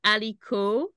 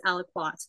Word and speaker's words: Aliquot: a French word, but it certainly has a bit of a French feel to it. So however you pronounce it is fine, but I think in the science community, it is aliquot.